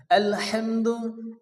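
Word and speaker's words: الحمد: কি বড় হা মুখ দিয়ে বাতাস বাইর হবে আলহামদু আলহামদু আলহামদু এরপরে লিল্লাহ অনেকে আছে লিল্লাহ ল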